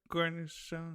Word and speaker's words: cornichon: Cornichon.